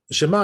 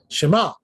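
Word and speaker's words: שמע: Make sure you say it like an Ayin, not Shema, right? Shema like an Aleph.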